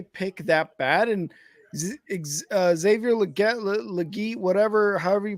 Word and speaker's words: Legette: So it goes, it's pronounced Legette. So legit.